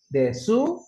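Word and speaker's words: です: Desu ini dibacanya des masu.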